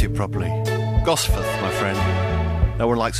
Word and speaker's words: Gosforth: He knows where I live, but he can't pronounce it properly. Gosforth, my friend.